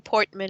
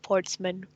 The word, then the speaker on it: Portsman: You keep saying Portman instead of Portsman.